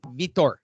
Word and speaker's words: Vitor: Met Vitor Belfort, who looked incredibly ripped for Vitor, and it's pronounced Vitor.